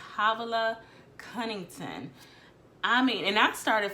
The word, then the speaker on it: Havilah Cunnington: I think I said her name wrong when I talked about my January goals. It's Havilah Cunnington.